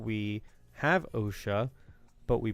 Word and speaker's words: OSHA: But you pronounce it OSHA?